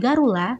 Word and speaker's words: Garuda: Sementara itu, dalam Buddhisme, Garuda, yang sering diucapkan sebagai Garula, sebenarnya digambarkan sebagai salah